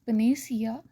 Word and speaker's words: panacea: कि बहुत से लोगों को ये लगता है पनेकिया पनेकिया वर्ड इसका मतलब होता है, कुछ लोग इसे प्रोनाउंस करते हैं एज पनेसिया.